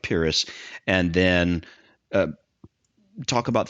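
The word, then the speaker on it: Pyrrhus: pyus purus pyus purus I'm going to say purus that that's the way I've pronounced it simply because of of the the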